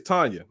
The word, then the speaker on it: Tanya: I thought it said Tania. It's Tanya.